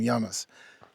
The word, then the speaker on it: llamas: Here in Spanish, the double L is pronounced with a Y sound. So here we just call them Yamas.